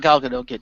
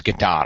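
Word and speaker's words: Gadot: Wonder Woman I thought galado did a great job um I I checked it's it actually is good dot I've been saying it wrong the whole time too so I think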